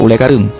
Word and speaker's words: Ulee Kareung: lidah orang Belanda Nah untuk Ule karing Sebenarnya nama asli adalah Ule Kareung dalam bahasa Melayu ditulis